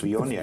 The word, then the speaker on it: Viognier: People are learning how to pronounce Viognier.